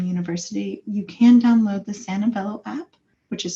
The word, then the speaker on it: Sanvello: And then for our students here at Texas A&M University, you can download the Santabello app, which is spelled SANVELLO, which is free for students provided